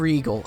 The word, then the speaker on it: Riegel: Sam Riegel, is that how you pronounce his name?